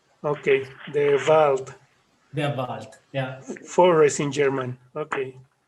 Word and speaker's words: Der Wald: ¿Cómo pronuncias eso, Pulpo? Der Wald. Okay, the Wald. Der Wald, yeah.